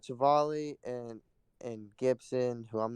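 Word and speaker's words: Civale: staff he has aaron cyvell i don't know if that's how you say it right travali oh i was way off but he's got chivali and and gibson who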